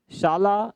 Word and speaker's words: शाला: कि पहला यहाँ है शाला स्वास्थ्य परीक्षण अभियान। शाला है ना, उच्चारण का ध्यान रखना, ये साला नहीं है, शाला स्वास्थ्य, साले का